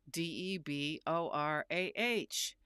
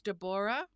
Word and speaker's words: Deborah: name, it was spelled D E B O R A H. But did you hear me say my name is Dborah? No, I said Deborah.